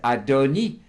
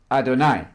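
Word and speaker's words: אֲדֹנִי: at that second law the word is adoni there's a vow H underneath the noon there pronounced e not I not Adonai absolutely not that makes a huge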